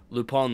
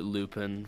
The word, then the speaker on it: Lupin: I I used to I used to pronounce it Lupin for a while that's actually loop on that way it's a French name yeah loop on the